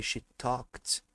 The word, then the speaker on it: talked: E esse ed aqui, ele vai ter som de T, vocês vão entender o porquê, tá?